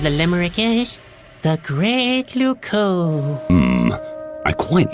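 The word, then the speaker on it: Loucaux: wrong now what's wrong luco doesn't really rhyme with bordeaux it's spelled completely differently really luco is spelled l o u c a u x you can't write limericks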